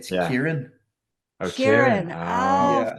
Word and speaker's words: Kieran: Yeah, is it a ch sound at the beginning? Everyone thinks it's a ch, but it's a k. It should be a k. So it's Kieran.